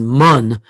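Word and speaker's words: מן: Because the Hebrew way of pronouncing manna is mun, which in Yiddish actually means poppy seed spread that you put inside your hamantaschen.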